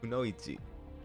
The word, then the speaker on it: kunoichi: you guys in English but yeah it's actually pronounced kunoichi it's if but it's cool though it's cool